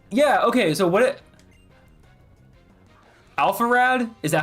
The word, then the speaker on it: Alpharad: So, what it Alpharad? Is that how you say it? Alpharad. Yeah, it's Alpharad.